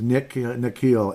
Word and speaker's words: Nickeil: I keep saying his name wrong, like Nicholas or Nick or Nickeil or Mikhail or whatever. It's Nickeil Alexander-Walker. He was projected to come